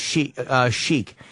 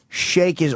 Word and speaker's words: Sheik: She's right it is pronounced sheke however shakey also a proper pronunciation I know So Janine...